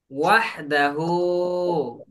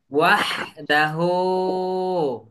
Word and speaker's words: وحده: إلا إلا الله الله ওয়াহদাহু। وحده وحده এটা এখানে কিন্তু হাই হত্যি, মানে আমরা যেটা বলি হচ্ছে বড় হা, হা গলা চেপে উচ্চারণ করি না, ওই ওই হা আছে এখানে। ওয়াহদাহু।